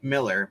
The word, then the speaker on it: Millar: Yeah, these days, it's Millar, or as they pronounce it, Miller, but it's not Frank.